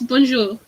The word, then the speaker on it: bonjour: so there's a word phrase called bonjour is that how you say it yes bonjour well okay well completely